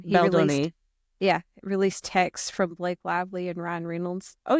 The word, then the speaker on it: Baldoni: Justin Baldoni, how you pronounce his last name? Baldoni.